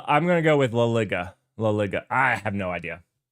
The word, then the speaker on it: La Liga: Uh, I'm going to go with La Liga. Laiga. I have no idea. La Liga. La Liga. Ah. I don't know why I was putting N in it. I really linga just sounded good.